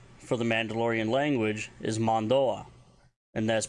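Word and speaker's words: Mando'a: So the Mandalorian name for the Mandalorian language is Mandoah, and that's pronounced as Mandoah, even though it's spelled Mando apostrophe A.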